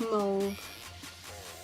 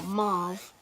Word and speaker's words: mauve: It's like a dark mauve, or mauve as Americans say.